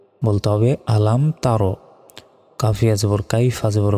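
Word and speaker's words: أَلَمْ تَرَ: তা র জবর র আলাম তার আমরা অনেকে ভুল উচ্চারণ করি বলি যে আলাম তারা এটা ভুল বলতে হবে আলাম তার কাফিয়া জবর কাইফা জবর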